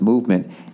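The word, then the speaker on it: MVMT: there movement watches everybody movement watches pronounced movement MV MT that's how they spell it was founded on the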